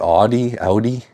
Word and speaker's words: Audi: Audi?